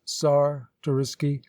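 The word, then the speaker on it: Czartoryski: lubecki pronounced newt betsky czar tororisky pronounced sar torisky khloe picky khloe pitsky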